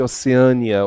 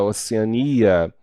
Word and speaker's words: Oceania: Olha, no caso de Oceânia, Oceania, ortoépia e ortoepia, até a palavra ortoépia sofre processo prosódico, né? Então, temos aí palavras que apresentam dupla prosódia. As duas palavras podem ser pronunciadas de formas distintas e pode usá-las que não serão consideradas erros, tá?